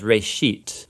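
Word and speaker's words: רֵאשִׁית: it's called Genesis Genesis comes from a Hebrew word uh it's pronounced Ray sheet and it just means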